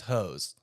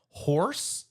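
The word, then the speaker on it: haux: The slang word is pronounced as horse. No, there's no R. H A U X is pronounced horse.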